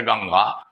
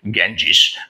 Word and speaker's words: Ganga: It's better for us to say the Ganga because the English people could not successfully pronounce the word Ganga, and therefore they used to call it Ganges.